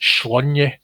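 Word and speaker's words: Sláine: to hear though this strip famously mentions that slain is pronounced shlonya but he's most definitely slain in this overall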